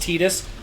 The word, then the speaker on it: Tidus: I just seen something recently about it where, like, they confirmed it's pronounced Tidus.